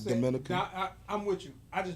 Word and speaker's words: Dominica: It ain't the Dominican. It's Dominica. It's an island called Dominica.